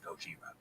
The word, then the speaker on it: Gojira: It's pronounced Gojira.